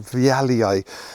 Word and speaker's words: vialii: And he brought them back to Europe, and in honor of him, the plant was called the species name was called vialii. And when you pronounce the name, the two eyes at the end are e i, so viali.